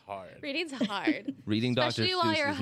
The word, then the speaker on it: Seuss: Company just is not start saying the name wrong. It's Dr. Seuss, and you're not talking about the blue name.